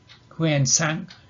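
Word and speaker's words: Xuanzang: And the two well-known are pronounced Huan Sang and Fahian, and these they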